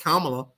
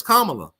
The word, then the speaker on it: Kamala: you love or hate Kamala and it's funny how people can't say her name right it's Kamala not Kamala it would be Kamala if she was black it would be Kamala but she's Kamala you know kamot this